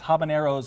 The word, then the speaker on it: Habanero's: Grill Habaneros Grill sorry we were saying it wrong amongst ourselves it's Habaneros as in it's the possessive of habanero what did I just